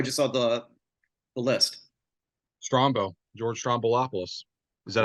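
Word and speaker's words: Stroumboulopoulos: George Strombolopoulos.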